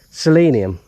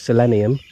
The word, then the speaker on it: selenium: how you pronounce it selenium I think is the way as Brits pronounce it if Americans it's selenium but uh whatever they